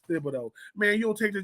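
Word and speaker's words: Thibodeaux: What you mean it ends with an X?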